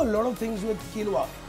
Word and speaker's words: quinoa: Now you can do a lot of things with quinoa, Q-U-I-N-O-A, but pronounced quinoa.